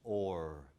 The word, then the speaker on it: hour: and in original pronunciation in Shakespeare's time the word hour was pronounced or say with me or